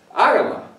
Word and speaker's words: háganla: Háganla. Hagan la tarea. All right, now if it's just hagan la tarea, there's no accent. Why? Hagan, two syllables. Háganla, right? That's three syllables.